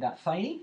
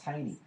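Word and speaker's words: Thoene: It's pronounced Taney, but it's sort of doesn't look anything like it. T-H-O-E-N-E. And Thaney, is that right? Thaney is how it sounds, but it's pronounced Taney, isn't it? Taney.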